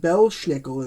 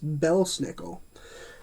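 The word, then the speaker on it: Belsnickel: she know that belle snickel which is not pronounced belle schnickel in this movie like it should be it's pronounced bell snickle bell snickle hears he's like wrecked his belt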